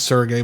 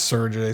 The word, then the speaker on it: Sergey: Sergey. I've always said that name is Sergey, but they pronounce it as Sergey, so I'm going to say Sergey.